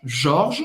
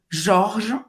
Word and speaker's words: Georges: Jorge, você não vai pronunciar esse E. Jorge, como é? O G O G tem é o som O. do O Jorge. G-E-O tem som de J, como se fosse Jó. Então vai Jó. ser Jorge e o S não se pronuncia.